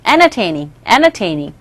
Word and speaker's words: entertaining: enter에서 nt 같이 있죠. 그래서 nt에서 t 소리가 약하게 발음되기 때문에 entertaining이라고도 발음이 되지만 entertaining이라고도 들릴 수 있어요. entertaining.